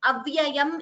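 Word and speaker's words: अव्ययम्: Prahuravyayam only. It is not yama.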